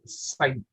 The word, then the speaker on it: psi: This is psi. P is silent here.